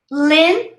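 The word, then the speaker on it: Lindt: bose z sound bose lint don't pronounce the d lint ralph lauren or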